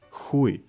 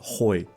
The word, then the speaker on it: хуй: It's pronounced as "иди нахуй," "хуй," not "hoy," not "иди нахуй."